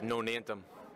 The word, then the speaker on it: Nonantum: all uh tell us um how do you pronounce the name of the place it's nonantum Boxing Club and is there a reason why